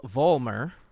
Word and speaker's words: Vollmer: Vollmer.